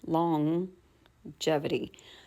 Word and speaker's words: longevity: still has that sound longevity. So we're not actually saying two G's. We're saying that and then saying the the G sound. Now, this G sound is actually a J, right? A J.